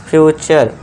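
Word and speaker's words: future: तरह इसे क्या पढ़ेंगे फ्यूचर फ्रे नहीं फ्यूचर नेचर फ्यूचर कल्चर और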